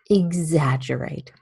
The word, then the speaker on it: exaggerate: a good idea to start at the very back so you go right generate that gerrate exaggerate and then enough when